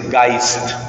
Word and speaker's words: Geist: Espíritu en alemán se dice Geist, que se escribe con una E, Geist.